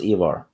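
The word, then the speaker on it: Ivar: the Boneless yeah the the Scandinavian uh I is pronounced like the English e ah yeah that's why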